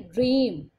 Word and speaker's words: dream: Dream. A is silent. E is making high sound of E.